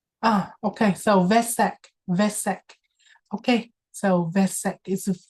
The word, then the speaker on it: Vesak: Okay, so Vesak is pronounced with a V, even though it's written with a W, it's pronounced with a V, Vesak lanterns.